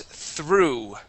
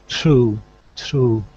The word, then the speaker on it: through: This word is through. True. Okay, give me a TH there. Instead of true, it is through.